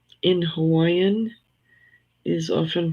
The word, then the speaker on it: Hawaii: Yeah, sometimes they say Hawaii because the V in Hawaiian is often pronounced, the W in Hawaiian is often pronounced as a V.